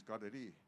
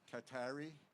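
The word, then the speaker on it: Kateri: So Katherine in in Mohawk is Gadi. Uh so that's how you're supposed to pronounce it. Some people call it uh Katari or uh uh other names but it's in our language it's it's got Takquita.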